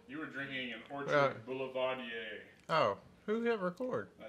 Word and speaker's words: Boulevardier: What is in an Orchard Boulevardier? Well, why don't we just kick this thing off and then we can ask. How do you say it again? Boulevardier. Boulevardier. Boulevardier.